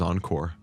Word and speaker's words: encore: Especially the most of all, the one that nobody knows is a French word is encore, It's encore. It just means meaning again.